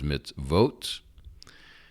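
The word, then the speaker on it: מצוות: you see it and that it would be pronounced as mitz votes and then the next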